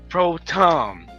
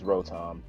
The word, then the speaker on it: Rotom: you're speaking shut up son alright how you pronounce Pro Tom yeah I already looked it up its Rotom thank you hey Roy Thomas pronounced bro Tom